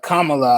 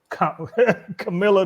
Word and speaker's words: Kamala: what do you think about um kamala uh kamala i should say let me not mispronounce uh yeah i like trump i mean i think uh bar called her camilla today yeah kamala is awesome uh a black